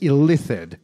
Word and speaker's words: Illithid: By the way, it's actually pronounced Illithid. I've been saying it wrong.